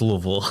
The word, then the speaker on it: Louisville: after uh LS and Clark Le but it's pronounced Louisville right exactly so uh and then across from